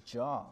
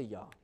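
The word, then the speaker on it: יה: the the Hebrew it's Jah. I mean, maybe it's Yah. I don't I I don't think there's a Yeah, I don't think there's a J pronunciation in Hebrew, but I'll just say Yah.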